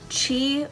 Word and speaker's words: Qi: entries to win in our thousand dollar draw chi wireless okay okay chi wireless we better spell that because it's pronounced qi but it is